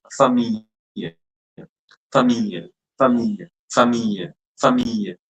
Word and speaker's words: famille: Then famille. Famille. Famille. Okay. Famille. Don't say famille. Most I've heard students pronouncing it as famille. Famille. It's not like that. It's famille.